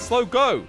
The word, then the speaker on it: Slogo: armor boys wait seriously it's not slow bro stall it's slow go oh it's logo you're